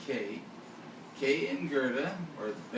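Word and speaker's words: Kaj: And Kay, that's spelled K-A-J, it's pronounced Kay.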